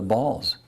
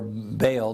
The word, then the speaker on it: Baal: and followed after the balls now ball or bale depending on how you choose to pronounce it was the pagan